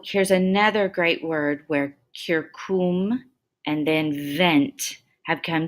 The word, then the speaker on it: circum: This one's pronounced kirkum, kirkum, and it means around.